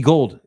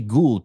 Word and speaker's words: Gould: It's actually Gould, probably, right? I think Robbie Gould is the only one that pronounces it Gold when it's spelled Gould.